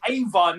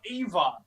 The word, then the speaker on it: Eva: So That's Ava, not Eva. no, it's spelt the same.